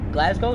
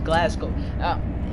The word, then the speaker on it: Glasgow: geez say like glasgow glasgow that's the correct pronunciation i thought it was glasgow it's the way i